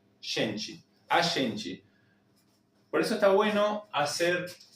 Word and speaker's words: a gente: La G nuestra en español se pronuncia como una Y o como una SH. Shen. La E final como una I y la T se va a transformar en una CH.